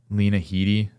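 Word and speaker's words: Lena Headey: I think it's like six episodes and like Lena Heedy, that's how you say her name.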